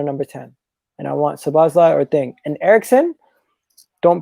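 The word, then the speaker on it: Szoboszlai: So it's between Arwa or Slobosly. Sabazlai. That's how you say it, Sabazlai.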